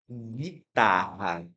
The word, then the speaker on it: guitarra: Por exemplo, eu tenho a palavra guitarra. Guitarra. Beleza. Eu escuto o som do U. Não, eu eu escuto apenas o som do G, do I, do T, do a.